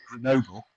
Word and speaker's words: Grenoble: I think the O is definitely the stressed syllable there. Yes, so Grenoble, but we're still going to need the grun in there.